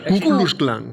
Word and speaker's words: Ku Klux Klan: Espérate porque no lo sé pronunciar bien, Rodrigo, a ver si me ayudas. Klux. No dejes tanta pausa. ¿Cómo es? Ku Klux Klan.